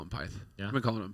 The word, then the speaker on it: Pyth: Because, if you try and really say it like full Swede, it's like Pit.